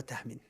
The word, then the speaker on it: Tahmin: So brother Tahmin. But I know no one says your name like that. Yeah. They don't pronounce the H.